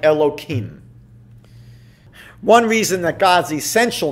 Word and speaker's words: Elohim: So when you're reading the Torah, when you're praying, you would be able to pronounce that name as it is written. Otherwise, what we usually do is alter it slightly, and we might say something like Elohim.